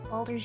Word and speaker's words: Baldur's: I'm saying it wrong is it belder Boulders Baldur's Gate yes okay okay because I was